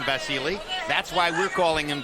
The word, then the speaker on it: Vasyl: So he pronounces his name Vasily.